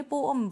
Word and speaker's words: poem: लेकिन जब हम इसे रीड करते हैं, जब हम इसकी प्रोनाउंसिएशन करते हैं तो ये अलग अलग यानी सेपरेटली प्रोनाउंस किए जाते हैं। पोअम, पोअम, ये पो है, ये आम है, पोअम।